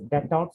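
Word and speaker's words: Destot: Okay, and this is an another anatomical point called it's pronounced as Detot space.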